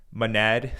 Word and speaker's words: Monad: net on on monad it's actually pronounced manad but I'm going to call it monad anyway just because that's how um when my eyes look at that word that's how I think to pronounce it but maybe they will get uh upset because I don't pronounce it right but to me I'm going to call it moned not manad but anyways that's irrelevant